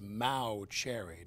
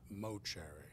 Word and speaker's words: Mauceri: in England Bowie and your name is Mao cherry not mo cherry that's right or must